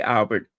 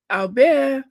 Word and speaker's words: Albert: I love the way the French say Albert. Albert. Albert. The T is silent.